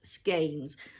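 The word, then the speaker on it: skein: made these little I'm going to call them skain s k i ns skes that word is I hear used in many pronunciations but um I do believe that it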